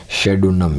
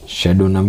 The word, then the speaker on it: pseudonym: इसके अंदर भी पी साइलेंट है, PSEUDONYM, शेडोनम यानी उपनाम। शेडोनम का मतलब उपनाम, फिक्शियस नेम, नकली जो नाम होता है, उपनाम, यानी उसको कहा जाता है शेडोनम।